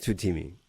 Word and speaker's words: TUTEEMI: TUTEEMI, am I pronouncing it correctly? Yes. TUTEEMI.